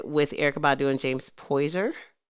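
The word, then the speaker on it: Poyser: Eric Badu and James poiser is that how you say his name poiser poer I always said poser that guy I would say poiser so yeah um that's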